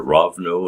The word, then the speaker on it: Rivne: the capital of ukraine rivne or ravno as the russians pronounced it and odessa and so